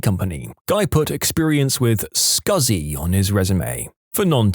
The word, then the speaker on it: SCSI: Guy put experience with scuzzy on his resume. For non- techies, SCSI is a type of hard drive pronounced as he wrote it, but never in a million years written that way.